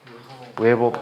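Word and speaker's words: weber: 테슬라라는 단위를 쓰고 또 이거하고 똑같은 단위가 웨버 퍼 제곱미터라고 해. WB를 웨버라고 읽어.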